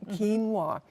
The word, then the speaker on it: quinoa: this is red quinoa normally we see it quinoa it's spelled qi and away which doesn't sound like quino to me at all I never remember no this